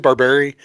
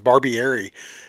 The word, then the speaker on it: Barbieri: So, but yeah, some of these and Frank, you said Barberi. And the crazy thing about it is I did not know how to say his last name. And I went and Googled, like YouTubed a review of him, and the person pronounced his name was Barbieri.